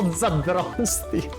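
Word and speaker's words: Zdrasti: Because no, not Zdrasty.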